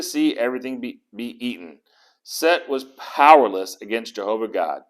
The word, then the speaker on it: Set: and disorder or chaos is set or seth but normally they pronounce it set and of course the